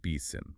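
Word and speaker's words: BSIMM: Yes, another powerful framework mentioned is the Building Security in Maturity model, or BSIM, pronounced BSIM.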